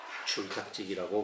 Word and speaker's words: 줄탁지기: 이 줄자라고 하는 것은 우리가 읽을 때는 이거 줄이라고 읽어요. 줄탁. 그런데 한문에서는 이게 최자입니다. 최. 치읓에다가 오하고 애자 쓰는 거. 어린아이 애자 그때 그거 쓰는 거 최자예요.